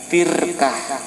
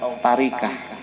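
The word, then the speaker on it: تركة: Harta peninggalan itu namanya tirkah atau tarikah. Ada yang menyampaikan atau membacanya tirkah, ada yang membacanya tarikah.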